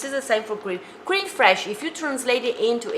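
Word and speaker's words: crème fraîche: me cream this is the same for cream cream fresh if you translate it into english would be fresh cream cran fresh fresh is a worth mean uh fresh like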